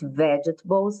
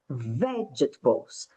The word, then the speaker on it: vegetables: Então, aqui, ó, vou marcar aqui, a sílaba mais forte é a primeira. Vegetables, não é vegetables, ok? Vegetables, vegetables. She doesn't eat vegetables every day.